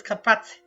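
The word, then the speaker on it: Carpați: pronouncing it properly well the pronunciation is kapat kapat MHM and did you explore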